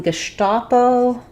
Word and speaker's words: Gestapo: The stress is on the sta syllable, and letter S says the SH sound in German. So Gesta, letter A says the A sound in German, and then it's just going to be a short O, Gestapo, O.